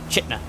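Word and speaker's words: Chitina: We're going to be making a left turn following that up north all the way to Chitna, since that's apparently how the locals pronounce it.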